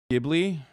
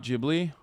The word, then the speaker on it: Ghibli: ] isn't he ghibli not ghibli did i say it wrong yeah